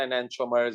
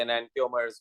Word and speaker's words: enantiomers: चलिए, optical आइसोमर्स को एनांटियोमर्स भी कहते हैं ना, एनांटियोमर्स या एनांटियोमर्स भी दोनों प्रोनाउंसिएशन यूज होते हैं.